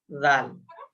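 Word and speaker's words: ذال: দাল তারপরে জাল জাল জালটা ওই আপনার জিহ্বার আগা এবং সামনের দাঁতের আগা জাল জাল একবার জাল জাল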